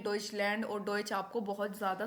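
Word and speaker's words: Deutschland: को हम बोलते हैं डचलैंड जर्मनी को हम क्या कहते हैं डचलैंड बोलते हैं जर्मन को हम डच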